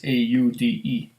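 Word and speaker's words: Saúde: And did they say Sauda? Or I don't know how to pronounce it. It's Saude. Like Saudi, but with an E instead of an I.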